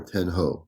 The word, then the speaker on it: Ten Ho: 10-0 or 10-ho. No, like ho, like ho ho ho, kind Ho of.